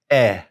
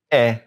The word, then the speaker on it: est: All right, now on the bottom left, we're going to put one word, and that is also eh, but we're going to spell it E-S-T. Now, E-S-T, eh, goes with il, it goes with elle, and it goes with on.